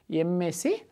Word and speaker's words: MSc: student she is Dash MSC student ok here we should come to the word a messy MSC what is the pronunciation MSC M it's giving consonant sound or vowel sound it's giving vowel sound some of us think